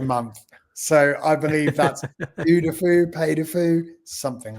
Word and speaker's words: Puy du Fou: Puy Du Fou. How do I pronounce it?